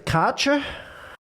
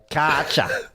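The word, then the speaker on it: Kärcher: A proper Australian will just say, Karcher. It's a Karcher, mate. Martin, of course, says, well, actually, it is a German brand, and therefore we pronounce it in the German way, which, according to my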